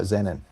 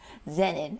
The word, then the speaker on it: Zanin: You know, I forgot to ask you how your last name is pronounced. Oh, uh Zinnen. Zinnen.